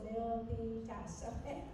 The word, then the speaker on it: Milpitas: Valley probably say well what is Milas means it's got three syllables Milas so Milas um it's